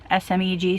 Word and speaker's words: Smeg: I can't even pronounce it. Smeg, S-M-E-G, Smeg.